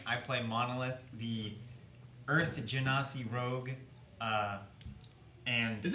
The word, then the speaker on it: Genasi: I play Monolith, the Earth Genasi rogue, and... Is it really not Ganassi? Yeah, it's like Genie, Genasi. Genie.